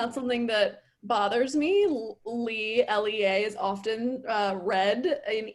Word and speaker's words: Lea: my name leah or i pronounce my name lee um and even though it looks like leah i don't want to say you know you actually should pronounce my name lee instead of leah so that's been i